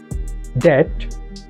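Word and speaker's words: debt: ডেট, এখানে be silent থাকবে।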